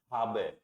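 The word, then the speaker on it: haben: पढ़े थे पन्ने, तो इसको ए बोल देते हैं, इसको क्या बोल देते हैं लोग बाग? एच का है हो गया, ए का आ, बी का बे और ई का ए, हाबे कर देते हैं इसको, जबकि ये हाबे नहीं होगा, राइट? इसका सही प्रोनाउंस क्या होगा? हाबे, मतलब ए को हमें अलग से बोलना है, ऐसे ही ये वर्ड क्या हो जाएगा?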